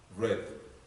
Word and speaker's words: read: the past is eight read the past red not is here the spelling is the same but the pronunciation is different see past sew sit